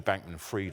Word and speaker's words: Bankman-Fried: It's actually Bankman-Fried in pronunciation, but a fried bank guy, yeah, he's been fried.